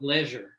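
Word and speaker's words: Legere: pronounced Leisure.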